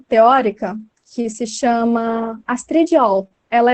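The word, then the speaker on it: Erll: Existe uma teórica que se chama Astrid All, ela é alemã, então se escreve E-R-L-L, L, né, mas é All.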